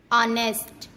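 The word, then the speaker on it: honest: जब ओ से पहले एच आता है तब हमेशा एच साइलेंट होता है। जैसे ऑनर, ऑनेस्ट, आवर, इको।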